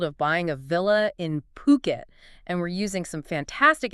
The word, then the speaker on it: Phuket: That's the big draw of owning property somewhere like Phuket. Exactly. And before we really dive in, let's get one thing straight right away. It's pronounced Phuket, not Phuket, okay?